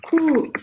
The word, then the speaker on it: coup: O-U em francês sempre vai ter o som de U, né? Então, cu de bar, eu não pronuncio este P no final.